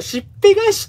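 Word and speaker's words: 竹篦返し: そう、しっぺ返しって読むんだ、これ。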